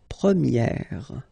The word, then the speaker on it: première: And then for the feminine form, you will get première. Okay, so it's open, this eh sound.